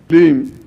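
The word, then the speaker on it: क्लीं: करेंगे ओ रीम श्रीम क्लीम कौस्तुभम क्लीम श्रीम रिम फट मंत्र के उच्चारण को इसलिए बोल रहा हूं आप समझ जाए कि सब में म की ध्वनि है ग की ध्वनी नहीं है कल आपको यहां बोर्ड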